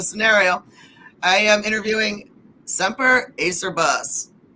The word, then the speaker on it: Acerbus: I am interviewing semper Acer bus there's another way to pronounce it and how do what's another way to pronounce it again a service a service okay so I apologize I